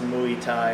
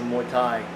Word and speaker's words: Muay Thai: No, it's not pronounced Muay Thai, it's pronounced Muay Thai.